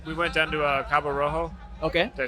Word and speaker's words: Cabo Rojo: we went to we went down to uh Cabo Rojo okay did I say that right yeah yeah